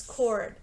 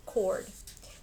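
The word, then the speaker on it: chord: cord okay this is cord that CH is pronounced like the K cord then you have exceptional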